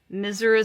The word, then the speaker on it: Mrs: Mr and mises Thompson miseris we would sounded out Mrs RS miseris my school teacher misus Smith misus 18 years but